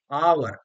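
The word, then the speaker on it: hour: अब कई बार H silent होता है। एच वैसे तो आपका कॉन्सोनेंट है लेकिन साइलेंट है। आवर, ए uh were, आवर में है तो एन लगेगा।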